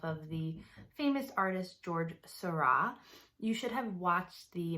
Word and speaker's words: Seurat: things from that video the artist sera that's how you say it he uses a different